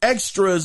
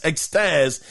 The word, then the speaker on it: Extas: So according to Extras, or his name is spelled EXTAS, Extaz, it got the number 1 STV.